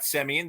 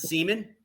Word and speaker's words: Semien: They went out and got Semien. They went out and got Seager and the great John Gray, who maybe outside of Colorado will pitch well. Who knows? Some people would pronounce it Seaman, but whatever.